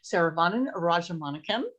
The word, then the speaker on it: Saravanan Rajamanickam: So I'm Saravanan Rajamanickam. So this is the correct pronunciation.